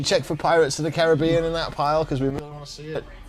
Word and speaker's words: Caribbean: it looked the same do you really say Caribbean yeah that bothers me I get I'm on your side I'm going on this side for the kiss yes you have the rhombus on the syllable for the movie as I say Caribbean I'm gonna stick with the way I say it well there with